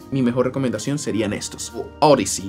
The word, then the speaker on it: Audeze: Audiz, como ellos quieren que lo pronuncien, Audiz MM100.